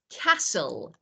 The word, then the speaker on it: castle: is that for example when I say castle lur mhm yeah cast SNL or whistle whistle so I